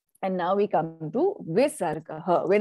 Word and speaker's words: Visarga: When it is in its akara, with the it is pronounced as aha. So Visarga is an aspirated sound. It is the pushing out of breath, right? And it takes on what happens, that ha takes on the sound of the vowel of the